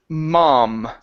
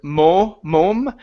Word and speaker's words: mom: Next up, we have the word mom. Instead of mom, it's an ah. Drop the jaw down. Ah, mom.